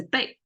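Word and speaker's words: 贝: one is the ancient currency symbol which is pronounced as big and big a seashell that used uh used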